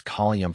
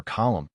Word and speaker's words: column: It is not only from untaught speakers that we hear such sllovenly articulations as colium for column and pretty for pretty, but even great ortors occasionally offend quite as unblushingly as less noted mortals.